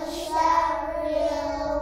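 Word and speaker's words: شَرِّ: Nah, ro-nya, ro ini tipis apa tebal? Tebal. Tipis apa tebal nih kalau kasroh? Tipis apa tebal? Tipis ya, berarti bacanya syarril apa syarril? Syarril. Syarril apa syarril? Syarril. Nah, karena bacanya tipis karena kasroh ya, berarti syarril. Bukan syarril, tapi bacanya apa? Syarril ya.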